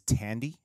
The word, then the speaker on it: Thandie: So, by the way, I can't stop seeing Thandie Newton anymore now that we know that that's her daughter. I believe the correct, did I say it wrong, pronunciation is Tandy.